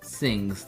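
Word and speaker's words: Singhs: at the sings we can officially call this sings that's how they pronounce it yes okay so this is the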